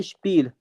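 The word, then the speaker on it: Spiel: इसका मतलब हो जाता है स्पील।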